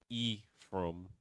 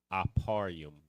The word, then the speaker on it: Ephraim: So it's not Ephraim, it's Aparium, right?